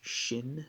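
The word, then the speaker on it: שִׁין: picture of a crown the dot over the right indicates that we pronounce it with a sh shin the dot over the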